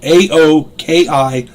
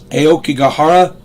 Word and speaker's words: Aokigahara: Aokigahara. I'm going to spell it. Aokigahara. Aokigahara Jukai.